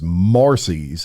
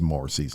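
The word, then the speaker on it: Marsy's: said he wants to use what's known as Marcy's and it's spelled m a RS y apostrophe s Marcy's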